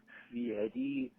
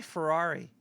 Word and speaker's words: Fieri: Actually, it's Guy Fieri, not Guy Fieri. You mispronounced his name. Thank you. Actually, Sure. I thought it was Guy Ferrari.